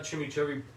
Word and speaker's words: chimichurri: If you haven't had chimichurri, that's how you pronounce it, then you're gonna love this.